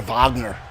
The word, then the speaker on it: Wagner: dragon Fletcher and Alexander Wagner is it Wagner or is it Bogner I know sometimes the Germans like to pronounce it a different way I don't like to